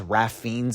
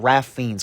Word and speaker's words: Ralph Fiennes: stuff, and the best stuff by far is Ralph Fiennes in this movie. Just learned that his name is pronounced that way, so shout out Ralph Fiennes.